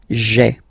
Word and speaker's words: j'ai: you get this sound j'ai, j'ai, okay. So j apostrophe ai. Remember, when you combine this ai, you get the e sound, okay.